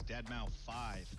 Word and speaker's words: deadmau5: is your good friend joel professionally known as deadmau5 yes that is the correct way to pronounce it tell your friends we're here to